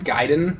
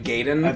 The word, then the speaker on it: Gaiden: You know, the AI is always pronounced with an I.